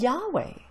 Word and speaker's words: Yahweh: it's something more like yahweh check it out some scholars feel that the original pronunciation was closer to yahweh rather than jehovah just how important is